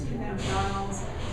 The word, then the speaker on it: cannabidiols: But you can now purchase cannabidiols, and I have Spell that.